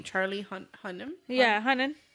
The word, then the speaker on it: Hunnam: Charlie Hunnam? Yeah, Hunnam. It's not Hunman. It's Well, it's Hunnan. Hunnan. Oh, so it's Hunnan.